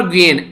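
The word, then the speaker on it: Nguyễn: और यहां पर जो ये बात की जा रही है ये है यहां पर ग्वेन, एन साइलेंट है यहां पर ग्वेन।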